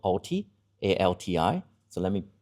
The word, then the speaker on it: ALTI: And I'm very proud of the team we affectionately call ALTI, A-L-T-I. So let me pronounce that correctly with my accent.